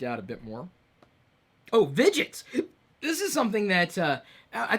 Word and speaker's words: Vidgets: free, and it's called Vidgets. That's like the word widgets, but instead of a W, it's a V, which in some accents and in some languages, the W is pronounced like a V.